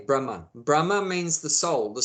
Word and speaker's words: Brahman: a m no sorry b r a h m a with a long a on the end Brahma Brahma whereas the soul is called Brahma short a Brahma same spelling but short a Brahman Brahma means the soul